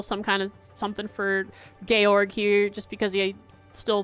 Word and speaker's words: Georg: Copper Georg.